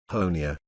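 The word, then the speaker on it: Honea: third year as Sheriff honia rhymes with Tony has become something of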